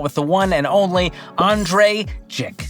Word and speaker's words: Andrei Jikh: the one and only Andre ji the I is silent the H is silent and as Lil Wayne